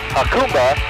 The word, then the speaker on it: Jacumba: officially on our way out of hakuma as we learned to pronounce it we're going to be